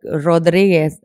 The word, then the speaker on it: Rodriguez: like you're supposed to are you supposed to roll the arm yeah like Rodriguez then like Rodriguez which is